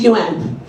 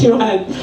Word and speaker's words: yuan: "Oh, the Japanese use yen, the Chinese use yuan." I'm like, "It's pronounced yuan." It's pronounced yuan.